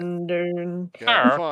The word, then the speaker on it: Sindarin: You were like, it's like Cinder, but not pronounced that way. So I'm like, Sin. Hang on, one sec. Sindarin.